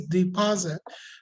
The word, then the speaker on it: deposit: it is deposit so the problem was I stressed the wrong syllable the stress is is on the second syllable not the first one so I said it I said it like this deposit what it was supposed to mean uh I said it like this sorry that was it it was supposed to be like this deposit just like this so the second syllable is a stressed one so what do we